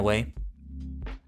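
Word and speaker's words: は: In a way. Ha is the only exception. It is pronounced ha, but can be read as wa in certain grammatical forms.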